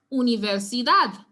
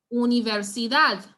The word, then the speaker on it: universidad: so apply the rule so if we look at this we realize that emphasis will be placed on the dad so no so we so you'll not stress anywhere else in the word so is universidad universidad estabien yes so let's try